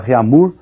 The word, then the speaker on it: Réaumur: é a escala Réaumur, que nós vamos pronunciar Réaumur, né, que é aportuguesado de novo, né, e essa escala